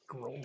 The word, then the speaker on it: Grolsch: Grolsch or Grolsch or Grolsch. Grolsch. I mean, that's how we say it up here in Ontario.